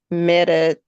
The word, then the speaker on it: medetomidine: How do you pronounce this? Medetomidine.